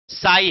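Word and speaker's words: psi: साई है। क्या है? साई। पी साइलेंट होता, पसाई नहीं।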